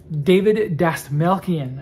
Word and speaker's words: Dastmalchian: David Dastmalchian, I think is how you say his last name.